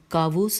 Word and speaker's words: کاووس: اور کہ کہاں گئے، یہاں پہ نام ہے یہ کاووس، اور مہجے کر دیتی ہوں، کاف الف واو واو سین اور کاف بڑی ہے اور اس کے اوپر زبر ہے۔ کون آگاہ ہے کہ